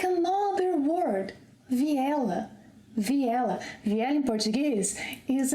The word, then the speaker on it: vi ela: When speaking, we link vi and ela. Vi ela. And this combination sounds like another word. Viela.